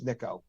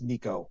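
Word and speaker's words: Nicko: voicemail hey mate it's niiko he doesn't go hey mate it's Nico right that's cool see and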